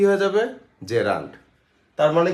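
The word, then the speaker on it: gerund: ওই নাউনের সাথে যদি আইএনজি থাকে তাহলে জেরান্ট। আইএনজি না থাকলে কিন্তু আর জেরান্ট হবে না। আপনারা বলে জিরান্ট এটার জিরান্ উচ্চারণ যে রান্ট জয়কারে যে রয়কার নয় ডট জেরান্ট।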